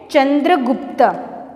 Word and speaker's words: Chandragupta: सो हाउ वी can pronounce them? King Nanda of Magadh. Second, चंद्रगुप्त, CHANDRAGUPTA, CHANDRAGUPTA, चंद्रगुप्ता.